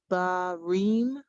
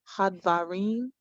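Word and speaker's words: הַדְּבָרִים: Wahau hadbarim. Hadvarim.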